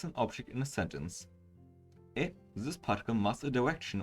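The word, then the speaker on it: へ: particular represented by here is actually pronounced e instead of hey no another easy one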